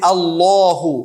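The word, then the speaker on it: اللّٰه: বলি লামটাকে আমরা একবার আল্লাহু লামটা একটু মোটা করে বলি লিল্লাহি লামটাকে পাতলা করে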